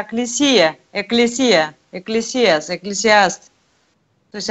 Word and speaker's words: Экклесия: Вы говорите, Экклесиас, там в беседе с Юлией было, она говорит, что по-гречески церковь – это Экклесиас. Это не Экклесиас, а Экклесия.